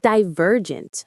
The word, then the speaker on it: divergent: Divergent. Stress on the ver.